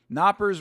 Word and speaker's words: Knappers: Knappers rhymes with whoppers.